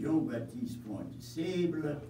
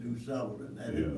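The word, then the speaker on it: Jean Baptiste Point du Sable: His name in French pronunciation is Jean-Baptiste Point de Sable. We now call it Du Sable.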